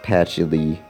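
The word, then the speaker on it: Patchouli: And yes, I know it's supposed to be pronounced Patchily. Patchily, I think.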